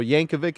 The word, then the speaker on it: Yankovic: yeah the movie name yeah Weird Al so Yankovic is how it's pronounced I've been saying it around my whole